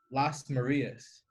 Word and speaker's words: Lasmarias: gage middle school no no no posted we pronounce last Maria's yeah so my dad even spells it where